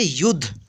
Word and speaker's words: युद्ध: पे ध, इसको पढ़ेंगे युद्ध। ठीक है, तो आप इस तरह से रहेगा तो कंफ्यूज मत होइएगा। यहाँ पे आधा उच्चारण होगा द का।